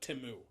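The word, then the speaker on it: Temu: it if you're could to say spell or pronounce it timu I mean like that just solidified like if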